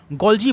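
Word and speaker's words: Golgi: Part है जिसे हम गोल्जी बॉडीज़ कहते हैं, गोल्गी बॉडीज़ कई लोग कहते हैं, ठीक है। अपना अपना तरीका है बोलने का, यू में pronounce as per your convention, ठीक है, ठीक है ना। हर आदमी सही है, कोई दिक्कत नहीं है, ठीक है ना।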